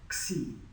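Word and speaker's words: ξ: is, it's the X, but it's pronounced xi. Xi. That actually goes below the line. Something like that. So, if we were pronouncing it in English, we'd pronounce it like a Z, like xylophone, right?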